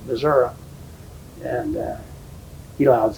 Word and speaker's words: Missouri: and I told him Missouri, which is the correct way he would pronounce it, not Missouri, Missouri.